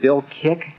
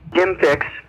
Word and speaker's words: Jim Fixx: jogging came up, and was it Bill Kick? Jim Fixx.